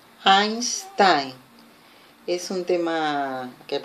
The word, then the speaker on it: Einstein: Hola, ahora con la pronunciación de la EI, que en alemán es Ein, Einstein.